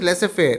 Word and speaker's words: laissez-faire: It's pronounced as laissez-faire.